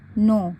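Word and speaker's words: know: minute sorry do यू नो क्योंकि के एन अगर साथ में होता है तो के को नहीं पढ़ते हैं और ओ डब्लू को यहां पर ओ पढ़ रहे हैं उसके बाद हु डब्लू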